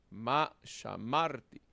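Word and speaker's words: שָׁמַרְתִּי: Ubicamos el verbo, entonces podemos deducir que llevará el acento en la segunda sílaba. Shamarti, shamarti.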